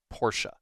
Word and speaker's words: Porsche: Atmosphere is good, exploration appears okay, combat passable, and Leon is driving a Porsche. Yes, that's actually pronounced Porsche with an E. It's German.